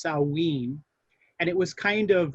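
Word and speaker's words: Samhain: that that was called i think it i think the pronunciation is salween and it was kind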